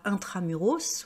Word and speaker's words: intramuros: mais vous n'habitez pas intramuros vous voyez c'est un mot latin c'est pour ça que là je prononce le S normalement on ne prononce